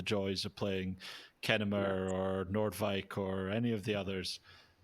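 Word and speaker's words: Noordwijk: back good on you good pronunciation that that was impressive nobody gets Nordike correct but you got it like nailed it really good so I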